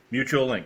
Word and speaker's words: Mutualink: Is that how it's pronounced? Mutualink, correct.